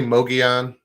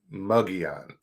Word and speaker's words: Mogollon: No, it's I say Mogollon. Okay. Some say Mogollon, like M-U-G. But well, I'm from Georgia. How should I do it? Mogollon? Mogollon is how I've been pronouncing it. That just feels so wrong in my mouth. It's like well, the L's, the double L is like a Y.